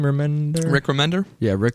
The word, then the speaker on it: Remender: Is that you say his name, Remender? Rick Remender? Yeah, Rick Remender.